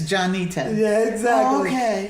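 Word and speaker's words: Jon'Nita: and for the industry I spell it jo n apostrophe capital n ITA so they will say it right oh look at that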